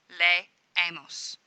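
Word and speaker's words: leemos: of the ending and they are pronounced as two separate syllables lay a MOS posit Rose lay ace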